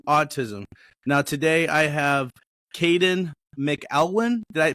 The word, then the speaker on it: Kadin McElwain: Now, today I have Kadin McElwain. Did I pronounce that right?